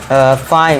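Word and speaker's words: fine: तो यहाँ पे ई को क्या कर देंगे साइलेंट। अब देखिए फाइन, इसे क्या पढ़ेंगे फाइन, और इसे क्या पढ़ेंगे राइड, फाइन राइड।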